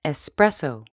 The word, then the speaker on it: espresso: 意大利语发音 espresso。